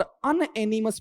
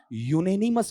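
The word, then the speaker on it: unanimous: इसका उच्चारण अनएनिमस नहीं है बल्कि बेटा जी क्या बनेगा? यूनेनिमस बनेगा। और यूनेनिमस में यू आता है और यू में साउंड बेटा किसकी है?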